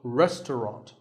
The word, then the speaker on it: restaurant: english learners trouble but don't let the fancy spelling confuse you the second syllable is just ta and the third is wrong so restaurant in british english you might hear just two syllables restaurant that is also correct after you eat at